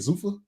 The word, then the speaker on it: Zuffa: Zuffa, yeah.